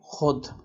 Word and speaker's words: خود: کہ مثلا یہ دیکھیں خود۔ خود کا جو واو ہے یہ واو لکھا تو گیا ہے لیکن یہ پڑھنے میں نہیں آتا۔ آپ خود اور اس